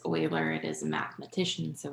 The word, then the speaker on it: Euler: euler diagram so euler i know it looks like euler but it's oiler it is a mathematician